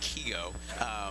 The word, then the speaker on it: Qiigo: Okay, so our company is actually pronounced Qiigo, phonetically incorrect on purpose.